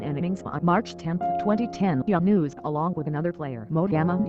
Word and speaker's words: Younis: has been quoted as saying my name is young news I tell people that rewear but they